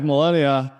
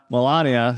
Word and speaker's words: Melania: people care because because his wife melenia Melania sorry I keep mispronouncing all of a sudden